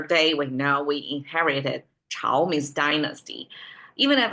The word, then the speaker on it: 朝: When it's pronounced as Chao, not as Zhao.